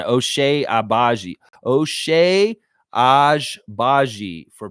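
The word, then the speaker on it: Agbaji: O'Shea Ajbaji for pronunciation.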